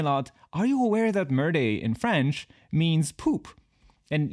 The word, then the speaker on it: Merde: It's pronounced Merde.